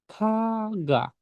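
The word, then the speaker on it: 가가: Oke, berarti ini dibacanya menjadi kaga. Kaga, kaga. Yang depan KH, yang tengah ga.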